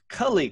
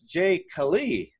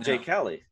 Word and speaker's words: Jay Kali: And if I get that right, it's Cully Coaching.